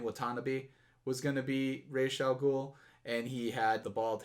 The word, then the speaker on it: Ra's al Ghul: Yes, now, the proper pronunciation for it is Ra's al Ghul, but the popular pronunciation is Ra's al Ghul.